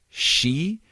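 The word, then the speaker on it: 四: the number four uh if you say the number four in japanese it's it's shi which is also the word for death yes so i was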